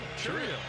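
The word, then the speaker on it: Chourio: Jackson hit the double how do you say his last name cuz Don orillo up here we kind of had a little bit of an argument yep that's what I've call cheio cheio yeah you said you said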